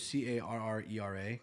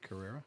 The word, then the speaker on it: Carrera: camman Porsche camman that's what it was there's c a r r e r a Carrera Carrera Carrera it was a Carrera Carrera really yeah didn't they have a like